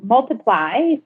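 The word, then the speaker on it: MLTPLY: So Multiply, spelled without the lettering, with a Y at the end. So it's MLP.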